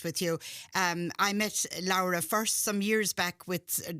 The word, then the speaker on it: Laura: I heard you pronounce it Lara because of course my my origins are back in Italy.